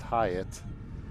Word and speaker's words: Hyatt: Okay, so I did clarify the catcher's last name is pronounced Hyatt, so I couldn't have mangled that anymore if I tried.